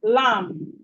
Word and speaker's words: lamb: We have lamb, lamb, lamb. The B in lamb is silent.